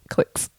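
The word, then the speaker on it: Clix: And then I saw his credit card and it said Clicks Gaming and it's spelled C L I X. Clicks.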